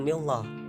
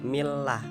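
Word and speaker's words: الله: yang berbaris kasrah dan jadi hukum membaca lafadz Allah ini tarqiq atau tipisnya cara membacanya itu inilah bukan mi loh Nah itu salah harus Mi lah nak jadi itu tarqiq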